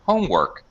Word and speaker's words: homework: what happens here is the second word in a compound noun gets secondary stress so although it's louder